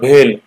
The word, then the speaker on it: BHEL: पहले जो 3 लिखी हुई ये हुई है भेल गेल सेल, प्रोनाउंसिएशन देखो जबान में पड़ रहा है ना, भेल गेल सेल, है ना।